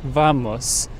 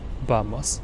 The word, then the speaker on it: vamos: yay all right yes we always say vamos right but the actual pronunciation is vamos not V but B all right say vamos